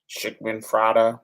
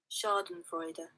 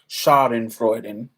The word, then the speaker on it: Schadenfreude: Schickmanfrada. What's that? Y'all know that word? Yes, cultural love. Yes. Yes. This is how you say it. Schadenfreude. Schadenfreude.